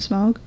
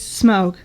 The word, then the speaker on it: Smaug: I think it's a Desolation of Smaug.